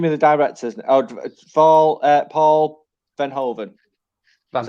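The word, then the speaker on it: Paul Verhoeven: mike just give me the directors fall uh paul van hoven that's how you say his name vernon bernhard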